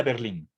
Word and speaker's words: Berlin: un nombre español y por más que la fuerza de voz esté en la última sílaba no he visto yo en los lo que pasa es que la mayoría de la bibliografía que yo manejo está en inglés pero incluso en español no no se acentúa la y creo que cometeríamos un error si ponemos el acento encima de la y isaiah berlin si él